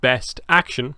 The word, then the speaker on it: BST AXN: called BST space AXN, pronounced Best Action, as you can see here.